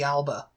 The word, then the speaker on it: Alba: Now, did you do the Scottish pronunciation of Alba?